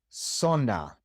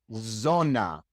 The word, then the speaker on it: zona: Well, in the great majority of the Spanish-speaking world, the Z is pronounced exactly like the S. So for example in words like sona sona zone sona it is not zona that doesn't exist sona d 10 it